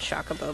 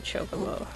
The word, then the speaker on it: Chocobo: one still my chocobo which is actually the correct way to say it some people call it shock a bow but it's actually a chocobo that was curious one